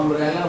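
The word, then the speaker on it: umbrella: You Hindi वर्णमाला में कोई भी वॉवेल नहीं होता है, लेकिन जब हम अम्ब्रेला बोलते हैं तो आ पहले निकल के आ रहा है।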